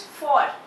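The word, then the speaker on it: vor: Second is for. In German we also pronounce V as F. Alright? So for. For means before.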